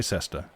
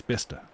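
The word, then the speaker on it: Bicester: which is written by sister and if you pronounce it like that you'd think you're correct but no then someone from there goes no no it's bister and you know it's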